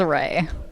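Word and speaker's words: Reagh: Uh my name is Aray. Array. How we spell that? R E A G H. R E A G H. Kind of looks like Ria.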